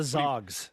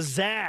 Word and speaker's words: Zags: It's not the Zogs. They're the Zags.